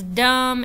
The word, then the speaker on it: dumb: So think about words dumb and lamb and bomb and thumb. What letter is silent? Yeah, the B. We do not hear the B in words like lamb and thumb and dumb and bomb.